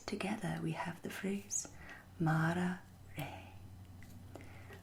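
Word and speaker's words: Mára re: Here you see we have the accent mark on the first A of Mara, indicating it is a long vowel and is emphasized. We also have the accent mark over the E in de, indicating that it is pronounced like the A in lake. Put together we have the phrase Mara re.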